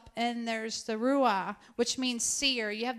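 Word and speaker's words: roeh: something prophetically to release any questions about that it's spelled r-o-e-h rua another name everybody doesn't like the name but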